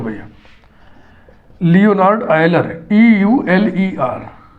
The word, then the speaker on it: Euler: देख लो भैया, Leonard आयलर, EULER, इसका उच्चारण वही करेंगे जो इंग्लिश के इस शब्द का करेंगे, आयलर का, यही इसका उच्चारण है। बात समझना, इसको बहुत से लोग यूलर पढ़ते हैं, लेकिन मैंने आपको ट्रेनिंग